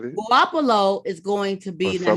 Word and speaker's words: Garoppolo: Garoppolo what's that how you say his name Garoppolo like you said it guapalo is going to be the next last year